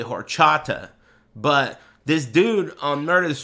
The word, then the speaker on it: horchata: Cinnamon Toast Crunch that's haracha it's very good it's a ancient traditional um I'm pronouncing it wrong too because this dude on murder stream pronounced it that way it's actually horchata but this dude on